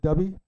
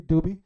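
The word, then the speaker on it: Dubhe: If you can make out the Big Dipper in the night sky, there's a star that's called, I call it Dubby. Some people pronounce it differently, Doobie.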